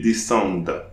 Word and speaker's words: descendent: ENT at the end of the verb is pronounced E, and it will be called a mute E. So I'm not pronouncing the mute E, I'll pronounce the D before.